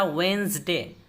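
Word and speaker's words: Wednesday: इस तरह वेंसडे, वेंसडे ये ब्रिटिश तलफ़ुज़ में वेंसडे होता है, बुध।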